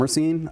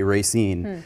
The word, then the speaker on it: Racine: Yeah, the one historian who I talked to, who does say Racine, said that kind of when he's being himself, he's kind of a salt of the earth Polish guy. He says Racine.